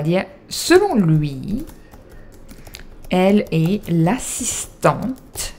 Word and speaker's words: assistante: Donc on va dire, selon lui, elle est l'assistante. And you pronounce the T, because there's an extra E, okay?